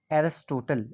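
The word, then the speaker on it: Aristotle: अगर हम लोग इंग्लिश में प्रोनाउंसिएशन करें तो कहते हैं एरिस्टोटल।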